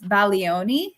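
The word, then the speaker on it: Bologna: country uh remember it's baloni so uh we're learning every day right so now Italian class uh the G you do not pronounce the G uh so uh we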